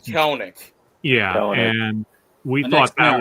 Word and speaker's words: Kelenic: where they traded away Jared Kolesnik, or I'm maybe mispronouncing. Yeah, Jared Kelenic.